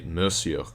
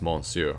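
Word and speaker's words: monsieur: say Mon they'll pronounce the end it's actually miss you so it's not pronounced monsoon although a lot of people will say that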